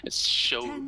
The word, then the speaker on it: CX: with the orange team shix that's how you pronounce the CX show show I've been told he he's recently the